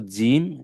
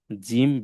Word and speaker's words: جيم: এটা হলো জিম, এটা দাল, এটা ঝা। জিম বেশি শক্ত করে পড়তে হবে, জিম এভাবে।